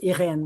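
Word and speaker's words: Irène: they didn't like irene i think of it as irene which was the french pronunciation but they didn't like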